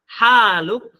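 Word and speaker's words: حالك: Haluk di sini adalah haluk panjang. Hal panjang. Tapi kalau langsung pendek artinya sudah beda.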